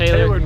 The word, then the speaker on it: Tailored Media: So if you wanna follow Taylor, It's Tailored Media. Everybody pronounce it Tailored, bro. It's tailored, like a suit, man.